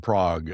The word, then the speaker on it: Prague: So, let's go back to that long phrase that I had a hard time pronounced earlier. The dynamic neuromuscular stabilization practitioner that that you did in Prague. I said prayer.